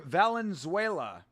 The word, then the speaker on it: Valenzuela: Victor Valenzuela. He is from Chile. Victor Valenzuela. Oh, Valenzuela, not Venezuela.